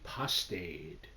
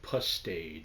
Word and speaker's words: pastade: I made a pastade. And my brother laughs because he says it sounds like pustade, like pus, but it's not. It's basically you spell it like pasta with a de at the end.